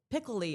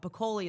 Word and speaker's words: Picoli: You pronounced my last name right. That was awesome. Picoli. Pickle I get a lot. But Pakoli is the right way.